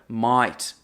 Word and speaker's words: mate: E também você vai ouvir algumas pronúncias que é quase como se eles substituíssem o A por um I. Então fica might.